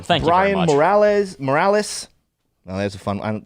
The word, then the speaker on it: Morales: I'm pretty sure it's So- not Morales. It's Morales. Listen, man.